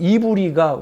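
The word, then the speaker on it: עברי: 히브리라고 하는 우리 한글의 번역은 히브리어에 보면 이브리가 원어 발음이에요. 이브리.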